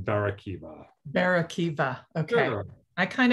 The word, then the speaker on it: Barakiva: Bar hyphen Akiva, which would be Bar Akiva, but then it's sort of been Americanized to Barakiva.